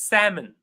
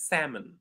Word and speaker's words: salmon: It's Salmon. The L is silent.